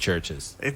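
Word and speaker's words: CHVRCHES: Is it just Churches? It's just Churches.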